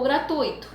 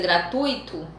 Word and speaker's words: gratuito: de vocês uma curiosidade como você pronuncia a palavra gratuito é gratuito ou gratuito e aí fala como que você pronuncia quem pronuncia gratuito está errado a pronúncia e quem fala gratuito está da pronunciando da forma correta dentro da sala poucas pessoas